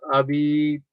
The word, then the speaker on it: habitación: H is silent, so it's habitación, which means room.